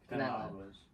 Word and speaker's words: Canelo Alvarez: Canelo Alvarez.